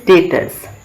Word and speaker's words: debtor: तो credit sale से एक वर्ड निकलता है दैट इज डेटर्स। ओके, लिखा जाता है DEBTOR बट B is silent there.